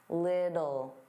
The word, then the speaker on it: little: Now little, native speakers, including me, generally pronounce the T's as soft D's. Little, little.